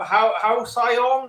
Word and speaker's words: halcyon: Halcyon? Halcyon?" Apparently, it's pronounced halcyon.